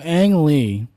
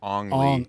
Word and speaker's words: Ang Lee: So Ang Lee, we all know who Ang Lee is. Did you guys like Brokeback Mountain? I don't want to be that actually guy, but apparently it's actually pronounced Ong Lee.